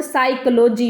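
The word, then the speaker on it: psychology: जैसे नाइफ और साइकोलॉजी में के और पी साइलेंट होते हैं।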